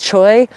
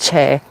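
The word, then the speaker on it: Choe: The Che family, which you all might mistakenly pronounce Choi, C-H-O-I, is not pronounced Choi, it's pronounced Che. There's the C-H-O-E, which is still pronounced Che. All of those variants, all Che.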